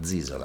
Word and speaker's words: Zisola: How do you pronounce it? Zisola or Zisola? Zisola.